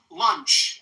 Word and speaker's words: lunch: This word has the uh vowel sound. Lunch. And it ends with the unvoiced ch like chop chop.